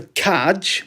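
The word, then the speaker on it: čaj: If you go into a cafe in Prague, which I did, and you ask for kaj, which is spelt C-A-J, that's English, in English, that's tea.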